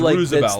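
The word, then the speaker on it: RSVLTS: uh Roosevelt shirts yeah so it's rsvl TS I think that's how it's spelled but it's Roosevelt the the brand yeah the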